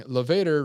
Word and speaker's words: Levator: Levator rhymes with Darth Vader.